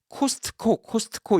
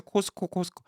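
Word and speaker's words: Costco: 그래서 코스트코 이렇게 얘기하시면 그거는 저도 좀 듣기가 좀 약간 어색할 때가 있어요. 왜냐면 전혀 발음이 다르니까.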